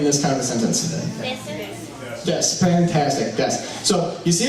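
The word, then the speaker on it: です: It's written D-E-S-U in English, but it's pronounced des.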